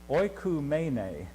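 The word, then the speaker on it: οἰκουμένη: And I wrote the pronunciation out. The word translated world here is oikumene.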